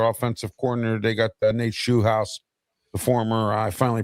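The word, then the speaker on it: Scheelhaase: They got Nate Shoehouse, the former, I finally pronounced his name right, the former pass game coordinator for the Rams and possible Steeler head coaching candidate.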